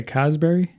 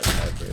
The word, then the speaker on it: Cadbury: You say Casberry? Is that how you pronounce Man, Cadbury?